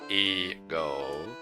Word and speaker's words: Egho: The region of Egho, pronounced Ego, is small but dense.